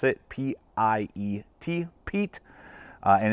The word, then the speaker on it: Piet: We're taking a look today at the CRKT Piet, and I know it's spelled oddly, but from all the research that I'm seeing, that's the way that you're supposed to pronounce it, P-I-E-T, Piet.